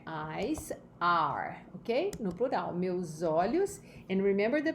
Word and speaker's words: meus: No plural, meus olhos. And remember the pronunciation here, meus olhos, ok? Remember that you have U-S-O. So it becomes, the sound is Z.